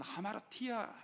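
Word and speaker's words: ἁμαρτία: 이제 구체적인 그림이 있어요.이 죄를 신약에서는 하마라티야 이렇게 발음을 하는 거예요.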